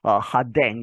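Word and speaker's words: Rodin: 더이어서 음성 파일을 들어보시면이 프랑스 말로 해서이 로댕이죠 하댕 이렇게 뭐 발음이 들립니다마는이 유명한 로댕입니다 그렇게 해서 아우구스트로댕 그리고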